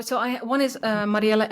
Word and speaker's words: Mariëlle: NL right yes and uh what is your your Instagram oh so I one is uh Mariela s yeah that's how you pronounce my name in Dutch uh my first name